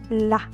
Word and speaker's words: la: Then we have la, la.